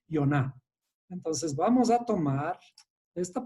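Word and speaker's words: יונה: Jonás en hebreo se dice Yoná.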